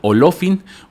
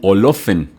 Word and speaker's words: Olofin: Después está Olofin u Olofen, que es como se puede pronunciar.